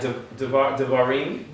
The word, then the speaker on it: devarim: If it's the beginning letter of a word, like devarim, you pronounce the E sound.